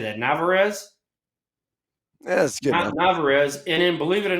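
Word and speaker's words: Narváez: Navarez.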